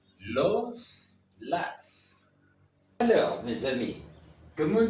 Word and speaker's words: las: Comme vous pouvez prendre compte, le S final se prononce toujours en espagnol. Los, las.